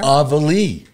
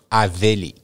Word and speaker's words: Aveli: Avali. No. Aveli. Aveli. Yeah. Aveli. Aveli. Okay, thank you. You need the French accent, the French Aveli.